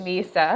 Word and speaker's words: Mysa: So um our company name it's spelled MSA but we actually pronounce it Misa.